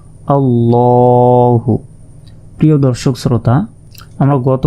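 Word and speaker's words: اللهُ: শব্দের অর্থ হচ্ছে মোটা তাই এই শব্দটি মোটা ভাবে উচ্চারণ করতে হবে দেখুন আল্লাহু এরপর হামজা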